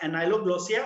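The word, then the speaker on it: ankyloglossia: तो यहाँ पे क्या है, द के इज साइलेंट, ठीक है. This disease is called as एनाइलोग्लोसिया, where the फ्रीनुलम इज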